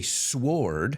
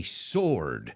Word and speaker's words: sword: sword fighting as well I don't say sword I say sword it kind of reminds